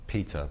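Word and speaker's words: Pieter: a designer a label called um peter which is spelled the dutch way p-i-e-t-e-r um and he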